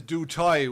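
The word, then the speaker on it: du Toit: Oh, the name is Dutoy. We're getting schooled here from Oh, South Africa. Dutoy. Oh, yeah.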